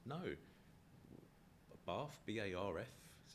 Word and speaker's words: Bath: But also, people do say Bath down in that part of the country, in the west of England, where Bath is, or Bath is.